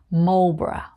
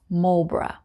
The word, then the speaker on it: Marlborough: very famous private school there so it's called marlborough marlborough 125 we have love bra love bra love